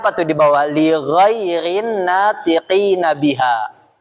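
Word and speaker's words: لغير الناطقين بها: Lighhairin natiqina biha. Lighhairin natiqina biha. itu bacanya ibu-ibu tuh yang di bawahnya di judulnya lighairin naqina biha artinya untuk non Arab gitu.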